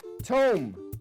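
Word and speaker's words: Tomé: But up next, in Sao Tome and Principe, young people use their Tom. Tome.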